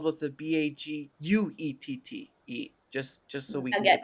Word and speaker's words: baguette: Actually, baguette is spelled with the Baguette. Just so we can get that Baguette. correct. Oui. Baguette. Oui, baguette. There is no r at the end of baguette.